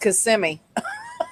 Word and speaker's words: Kissimmee: of her family yeah it's still pronounced Kissimmee she doesn't know how